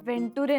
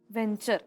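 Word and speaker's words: venture: वेंटुरे नाही, व्हेंचर असा शब्द. वेंचर होय, वेंचर होय. पण ते स्पेलिंग व्ही आणि TU म्हणजे TUच ते च म्हणायचं.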